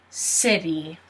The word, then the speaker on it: city: And if you remember, the T sounds like a D. So it sounds like you're saying city.